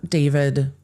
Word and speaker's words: D4VD: Singer David, stage name David spelled with a four, was back in court